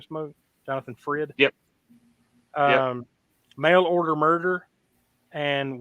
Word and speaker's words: Jonathan Frid: Jonathan Frid?